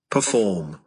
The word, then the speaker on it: perform: Từ đầu tiên chúng ta có là trình diễn, perform. Đây là một động từ, vì vậy nó sẽ có trọng âm là trọng âm hai.